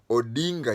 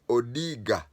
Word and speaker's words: Odinga: to mispronounce his name instead of saying odinga he said odiga that was deliberate it